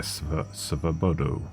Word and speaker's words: Svobodu: I think I heard him say it there, Svobodu. So, yeah, I was saying it wrong.